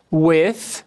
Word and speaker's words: with: With, som do TH. Isso aqui não é F, isso é o TH.